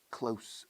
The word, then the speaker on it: close: Ahora, close se usa 2 veces aquí con pronunciación diferente, pero ortografía idéntica.